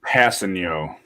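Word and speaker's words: Kpassagnon: But it says it's pronounced Passigno is the last name, so Tano Passigno.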